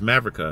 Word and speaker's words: Mavica: Mavica. I'm saying it wrong. They were saying Mavica, but it's Mavica. I think it's Mavica, and that stands for something too. It stands for magnetic video camera.